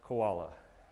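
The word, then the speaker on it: CWoLa: day of the week that's pronounced koala okay and um in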